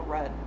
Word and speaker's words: Rudd: teeter turn lots of how is his name pronounced rude or read every table Paul from friends it's Paul Rudd holy oh my god